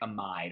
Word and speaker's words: amide: That would be a cyclic amide or amid. People pronounce it differently.